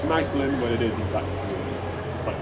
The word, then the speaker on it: Magdalen: However, he insisted that we should all use the archaic French pronunciation of Magdalen, which he believed was the only way of squeezing his own name, Audley, into the name of his college. You know, Magdalen, Audley. They're vaguely similar.